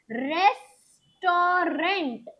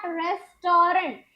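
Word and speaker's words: restaurant: रेस्टोरेंट इट इट इज़ नॉट रेस्टोरेंट।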